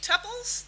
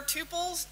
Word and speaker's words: tuples: just use that interface somewhere if I do tuples that's fine or tuples depending on how you want to argue to pronounce that kind of like gif or Jif